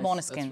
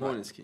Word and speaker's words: Måneskin: And there's also been some confusion in the newsroom and in our team regarding the pronunciation of the name. Did I do well? Yeah. Måneskin? Yeah. Måneskin. Yes. Måneskin.